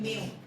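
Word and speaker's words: mu: ये refractive index का symbol है, और इसका प्रोनाउंसिएशन होता है म्यू। स्टूडेंट को नहीं पता होता, इसको म्यू बोल देते हैं, उसको न्यू, मतलब ये कंफ्यूजन सी रहती है।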